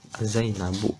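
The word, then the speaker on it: زينبُ: Jadi membantu Aina Zainabu, yang tepat Zainabu tidak bun gitu ya.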